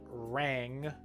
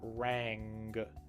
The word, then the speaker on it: rang: w, woman, and also the tricky deep NG sound at the end of rang, rang, rang. It's not ran, it's rang. You can hear the little G sound at the end, the soft G sound.